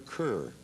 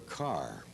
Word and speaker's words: Kerr: announcer said that's Deborah Carr and the kids said what is spelled ke and he said I know it looks like Kerr but take my word for it it's car so the kid thanked